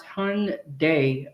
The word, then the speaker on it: Hyundai: Okay, Angela said pronounce hund day.